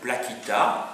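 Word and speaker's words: placita: Les PLA, ça vient d'un mot latin qui est plaquita.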